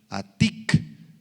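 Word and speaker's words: עַתִּיק: Esta palabrita anciano, subráala, es la palabra aramea atic. A, T y latina Q con acento en la I.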